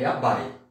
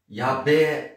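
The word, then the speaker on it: やばい: A palavra é yabai, tá? Só que muitos pronunciam yabai e muitos vão pronunciar, isso no caso, mais jovens e homens, yabé, em vez de ser yabai.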